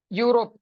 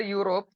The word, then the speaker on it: Europe: not consonant sound because when we uh pronounce Europe the first sound is U okay u means Y